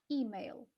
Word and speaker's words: email: Email. Да? Мы говорим Email. email, а они ударяют первый слог. Email. Хорошо, все верно.